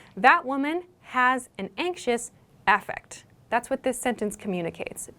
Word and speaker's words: affect: don't say effect here the emphasis changes with this noun form we say affect affect so when you're writing